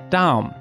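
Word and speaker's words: דם: For example, red in Hebrew looks like this, and it's pronounced Adom, while blood looks like this, and is pronounced Dam.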